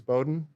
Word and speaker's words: Bowdoin: educate someone on how to pronounce the name it's Bowden college and you know it's